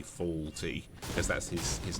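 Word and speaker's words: Fawlty: is called uh it it's pronounced faulty but uh written f a w l uh t y faulty because that's his his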